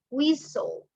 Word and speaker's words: whistle: We say scenic, hasn't, whistle. The letter T is not pronounced.